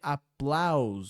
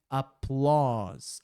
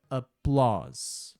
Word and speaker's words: applause: Olha que interessante, é tentador ler applause. Só que o certo é applause. A U sempre vai ser o e a letra e não é pronunciada, fica applause.